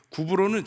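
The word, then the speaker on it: 구브로: 구불로는 지금은 그 당시 바람으로 발음으로 구불로 이렇게 했는데 사이프로스 섬을 말하는데 제가 지도를 하나이 지도가 여때 보여 줘야 되는 지도예요.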